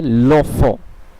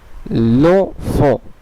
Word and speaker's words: l'enfant: ধরনটিও বদলে যাবে এবং এর উচ্চারণটি একটি শব্দে রূপান্তরিত হয়ে যাবে দুটি শব্দের বদলে। এখানে উচ্চারণটি হবে লোফ, লোফ, লোফ, যার অর্থ বাচ্চাটি।